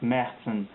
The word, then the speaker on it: Märzen: oktoberfest beers or or in german and pronounce it something like merten are said to be